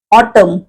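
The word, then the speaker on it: autumn: ऑटम म्हणजे शरद ऋतू आता ऑटम या शब्दात ए यटी य एम एन टम म च इथे आपला उच्चार थांबतो पुढचा न आपण म्हणत नाही म्हणताना जरी स्पेलिंग मध्ये असला आणि म्हणून एन म्हणजेच न उच्चार नाही झालाय म्हणून ते अक्षर आहे सायलेंट ऑटम म असा उच्चार आहे एज एज एज म्हणजे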